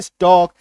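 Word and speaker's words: stalk: सी एच ए के चौक एसटी ए के स्टॉक एफ ओ के वाई के योक बी एल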